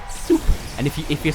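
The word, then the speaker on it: суп: speech on duolingo pronounces the russian word for soup because it's just soup so like if you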